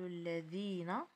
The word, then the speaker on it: الذي: الرسم اللتان عندنا الكتابه الذي اذا حذفت لامه عند الرسم والتي حتى هي حذفت لامها عند الرسم والذين بالنسبه اذا يكتب اللام اذا ينطق ويكتب وكاين حتى اللائي اذا اللاتي وبالنسبه الذي والتي والذين اذا هنا هذوك تكتبوا اذا بدون الف بدون لام اذا تنطق اللام ولكن تحذف رسما سؤال الخامس ارسم الهمزه